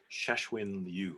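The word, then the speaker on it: Cixin Liu: worth reading i think cheshwin you i believe is how you say his name c-i-x-i-n-l-i-u i'm going to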